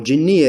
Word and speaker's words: Jeniah: Jeniah or Jinniya as it pronounced in Arabic means fairy.